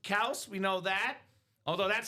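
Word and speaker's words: Kelce: Yep, Kelsey's pronounced Kels.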